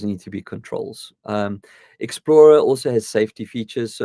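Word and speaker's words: Xplora: out for me is they've partnered with the Explorer app which is spelled x p l o r a so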